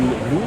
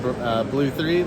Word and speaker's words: Blu3: Yeah, so some people pronounce it blue, some Blu3. The correct pronunciation is blue, and the 3 is actually a tribute to our sister company, Brownie's Third Lung.